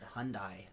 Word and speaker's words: Hyundai: now like you said, Hyundai Hyundai. I heard it was called Hyundai like Sundai, right? Is that how you say it?